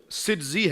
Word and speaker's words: سجزی: جائے، اور وہ ظاہر سنجری بولنے سے بھی پہنچ جائے گا. لیکن اصل تلفظ جو ہے وہ سجزی ہے کہ آپ سجستان کے رہنے والے تھے.